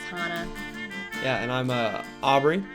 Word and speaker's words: Hannah: right hi I'm Hana it looks like Hannah but it's pronounced Hana yeah and I'm a